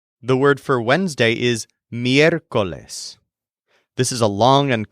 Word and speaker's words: miércoles: The word for Wednesday is miércoles.